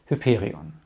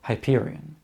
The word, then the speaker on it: Hyperion: It's called Hyperion, or Hyperion, which is also among his best-known works.